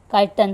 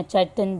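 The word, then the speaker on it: chitin: काइटन से। काइटन या चटन जिसको जो प्रोनाउंस करना है कर लो।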